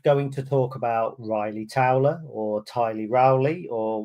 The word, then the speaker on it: Ryley: So it's Ryley, but it's spelt a little bit odd with a Y, Ryley Towler.